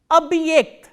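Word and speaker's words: объект: The next word we are going to do is abhyekt. Abhyekt. Abhyekt is spelled as O, B, hard sign, ye, k, t.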